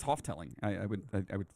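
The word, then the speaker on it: Houghteling: you pronounce that uh i would say half telling right how's it spelled h-o-u-g-h-t-e-l-i-n-g it's hoteling hotling hotling laura hi my name is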